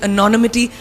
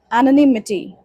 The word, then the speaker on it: anonymity: the opinions of faceless people writing behind the anonymity of what the web offers.